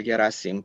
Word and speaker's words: Gherasim: cantes um so again my name is gasim perfect pronunciation of the last name by the way